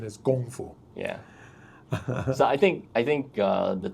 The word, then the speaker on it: Kung Fu: Well, correct pronunciation in more or less like close to Cantonese or Chinese in general is Gong Fu.